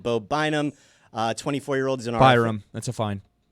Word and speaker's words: Byram: 24-year-old is an Byram. That's a fine. I said Byram. You said Bynum, like Andrew Bynum.